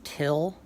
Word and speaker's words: Thgil: So Neil Breen's character, his name is Till in the movie. It's spelled exactly like it sounds.